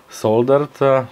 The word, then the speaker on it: solder: a steel wire construction soldered together and yes I pronounced the D in solder I'm not Northern American so you know you